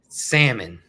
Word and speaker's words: salmon: hadn't had that listen you gotta say it right oh I'm gonna let you say it salmon salmon patties it's got an L in it salmon patties salmon salmon